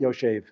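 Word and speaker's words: יֹשֵׁב: It's not written Yoshev. We read it Yoshev.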